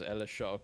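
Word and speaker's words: L.H.O.O.Q.: it says l-h-o-o-q but if you pronounce it like in french as ella shaw which means she has a really nice ass good for her okay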